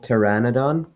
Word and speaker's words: pteranodon: The T sound can be spelled with a T or a PT. For example, pteranodon or etymology.